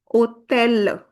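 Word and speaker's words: hôtel: Here also, we'll not pronounce the h, that is for sure.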